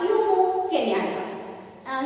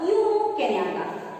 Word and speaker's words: Jomo Kenyatta: Here the lesson, The Gentleman of the Jungle, the first chapter, and here it is written by Jomo Kenyatta.